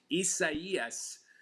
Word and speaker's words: Isaias: This one, the pronunciation is going to get a lot of people, including me, but this is Isaias, ninth named storm of the tropical season, and